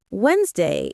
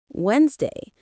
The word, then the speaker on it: Wednesday: For example, Wednesday is pronounced Wednesday, not Wednesday.